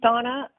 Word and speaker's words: Dona: She spells her name D-O-N-A, but it's pronounced Donna.